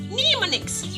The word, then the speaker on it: mnemonics: Letter M is silent in the word mnemonics.